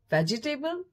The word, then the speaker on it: vegetable: Word is V-E-G-E-T-A-B-L-E. Vegetable?